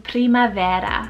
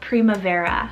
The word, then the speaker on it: primavera: gorgeous for your little girl it's the name primavera or primavera so p-r-i-m-a-v-e-r-a and this one means the spring